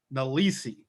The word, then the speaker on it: Nelson: His mother pronounced it Nalisi, while others would later call him Dalabunga, his circumcision name.